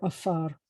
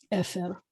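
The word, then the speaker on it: עפר: The word for ashes is efer or afar, efer.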